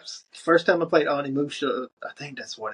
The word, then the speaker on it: Onimusha: But that was first time I played Anamusha. I think that's what it's called. I think that's how you pronounce it. It is. Anamusha.